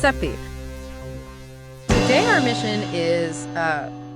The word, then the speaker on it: Sappe: Pronounced seep. Pronounced seep.